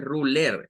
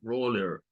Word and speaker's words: ruler: No es ler, no es ruler, es roller, roller, Es el sonido que le pertenece a esta palabra.